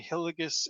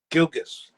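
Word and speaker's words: Gilgeous: Shea Hilgis Alexander. Is that how you say it? Gilgis.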